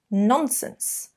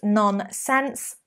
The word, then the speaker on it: nonsense: you could use what nonsense what's nonsense don't use non-sense nonsense okay or you could